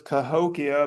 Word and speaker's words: Cahokia: I'm going to pronounce this Cahokia, but who knows how they would have said it because it was named way after the people had come and gone.